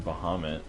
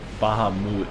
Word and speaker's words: Bahamut: Oh yeah, summon Bahamut. It's another one of those things where it's like not pronounced Bahamut.